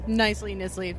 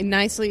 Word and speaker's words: Knisley: Yes, Knisley, fine. See, the thing is, on our website we have a comic book creator pronunciation guide, so if there's a preferred pronunciation of your name, we can put it on there. Sure, okay. Nicely is usually good, yeah. Okay, make a note of that, nicely.